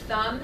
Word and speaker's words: thumb: so as an example the word thumb has a b on the end when you spell it but it does not produce that sound it's a silent b so don't get caught